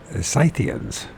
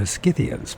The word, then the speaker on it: Scythians: a kingdom created by scythians I always thought that they're skians but okay the skans of the